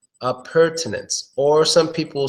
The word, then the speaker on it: appurtenance: one is tricking because some people will pronounce it without the t of pertinence appurtenance I'm sure to